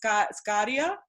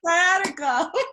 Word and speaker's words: sciatica: mentioned what is it, Scadia? I call it Scadia. What's that? No, I'm saying it wrong. It's wait, the pain you had, Sciatic? sciatica.